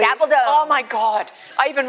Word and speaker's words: Gabaldon: I have learnt so much tonight from, how to pronounce Gabaldon correctly. Gabaldon.